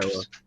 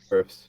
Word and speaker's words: Wirfs: Wirfs. Wirfs.